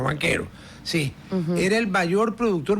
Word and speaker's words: Banchero: lo mataron a a banchero o banquero como quieran pronunciar B a n c h e creo que c ca en italiano banquero sí era el mayor